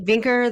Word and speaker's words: Vinkeer: Vinkeer that rhymes with stinker.